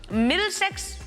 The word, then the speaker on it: Middlesex: Middlesex?